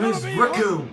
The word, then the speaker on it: Recoome: Recoome, and it rhymes with doom. Oh, that's brilliant. And you're My name is gonna be Recoome, and it rhymes with doom.